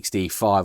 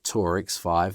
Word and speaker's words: Tour-X5: I see the XD5 also has these, or Tour-X5, there you go, I've said it wrong again, has these vents in